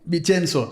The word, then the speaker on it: Vincenzo: Pero en Vicenzo, ¿cómo se pronuncia? Vicenzo. Sí, Vicenzo, ¿ok?